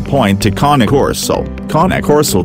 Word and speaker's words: Cane Corso: So 1 point to KAH-NAY KOR-SO.